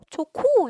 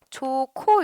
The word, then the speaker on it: 좋고: 너네 좋고 이거 어떻게 발음하니? 좋코 이렇게 발음하지. 좋코 이렇게 발음할 거야.이 이 히이랑 기억이 축약돼서 키극으로 변했기 때문이거든. 근데 요거는 의문이 몇 개입니까?